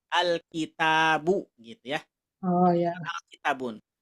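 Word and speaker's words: الْكِتَابُ: sama gimana Iya ya alitabun atau Alkitab Oh iya kalau udah sebelum ada sebelum ada alif lam bacanya kitabun pakai tanwin ketika ada alif lam maka tanwinnya hilang diganti dengan Dom biasa alkitabu gitu ya Oh I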